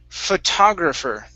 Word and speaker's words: photographer: the last one is photographer now in in this word we're going to stress the t o so the p h o at the very beginning it's going to be very quiet right and the o